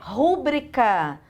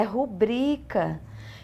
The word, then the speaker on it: rubrica: Não é rúbrica, é rubrica.